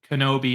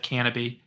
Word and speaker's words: Canobie: guy you used to pronounce my name as Kenobi instead of canaby yeah I know if